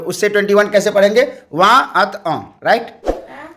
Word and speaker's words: vingt: तो यहाँ एक गौर करने की बात यह है कि जब यदि हम 20 सीख लेते हैं, जिसको VINGT फ्रेंच में स्पेलिंग है, उच्चारण वहाँ बोला जाता है, तो उससे क्या होता है 20 और 30 यहाँ सीख लिए।